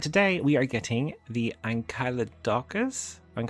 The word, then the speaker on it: Ankylodocus: This is how you pronounce it. Hit control. Ankylodocus.